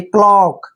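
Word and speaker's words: cloak: क्या करें क क्यों क्योंकि सी के बाद कंसोनेंट आया है तो सी को हम क पढ़ेंगे एल को ल पढ़ेंगे और ओ ए का ओ ओ पढ़ते हैं ओ ए को ओ पढ़ना है और के को के देखिए क्लॉक पढ़ेंगे इसको क्लॉक क्लॉक होता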